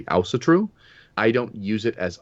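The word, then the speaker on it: Ásatrú: In Iceland, they say Ausatru.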